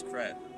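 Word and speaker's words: crêpe: Well, the pronunciation is crepe, but Emily in Paris says crap, so.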